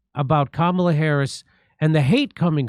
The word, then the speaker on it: Kamala: is wrong Kamala is wrong say it it's kamla that's what I think let's hear it again